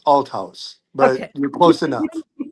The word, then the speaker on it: Althaus: Please welcome Atlas. Hi. You were close with the last name. It's pronounced Al House, but you're close enough.